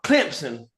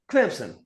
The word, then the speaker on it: Clemson: they say it, but they like speed up the M and the S to where it's Clemson. Clemson."